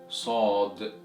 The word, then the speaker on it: ص: So the 14th letter of Arabic is pronounced as Saad. Repeat after me. Saad.